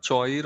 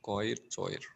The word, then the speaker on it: choir: Sir, choir or choir? I don't know. Choir. Correct. C-H-O-I-R. Choir is how you pronounce the word. It's a K sound.